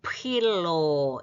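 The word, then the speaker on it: φιλῶ: feel, 프 발음이니까 필로, 예, 필로 사랑하다는 단어인데 자 그러면 이제 위에는 현재 현재 공식이 뭐였어?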